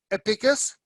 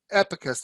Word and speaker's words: Epicas: sent me the um epicus epicus i should say yeah it's called abacus the pronunciation of the e epicus the abacus uh a coffee now this